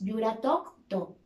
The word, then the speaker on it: Yuratok to: Muy importante también la pronunciación cuando decimos Yuratok to. Debe sonar el tok, la C al final de esa sílaba debe sentirse. Con la melodía sería así: Yuratok to.